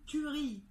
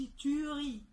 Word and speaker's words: tuerie: ناخد فعل tuer، بنقول tuerie، ما بنقولش tuerie، ال E كمان هنا مش بننطقه.